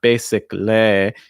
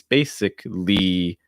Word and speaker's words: basically: that that y at the end is a long i sound and you want to make sure you're holding it long enough so it's not basically it's basically basically a lot of speakers i'm looking at like spanish speakers russian speakers there's tendency to pronounce more like lay but you want to pronounce li our next one beverage